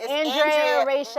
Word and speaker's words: Andrea-Rachel: And it's not even Andrea, I just made up a whole other name. Yeah, it's Andrea-Rachel. Right.